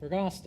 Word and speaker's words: Agosto: Agosto. Yeah, I thought. Rhymes with pasta.